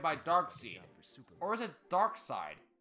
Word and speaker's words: Darkseid: Or is it Darkseid? How is his name pronounced in the show? You may call me Darkseid.